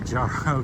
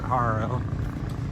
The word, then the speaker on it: Jaro: I say Jaro because it starts with a J, but they pronounce it Jaro.